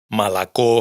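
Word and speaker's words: молоко: En resumen, si la sílaba átona está justo antes de la tónica, pronunciamos a.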